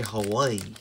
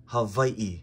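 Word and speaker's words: Hawaiʻi: it's not Hawaii it's Havi and yeah the the W is also a v oh I see some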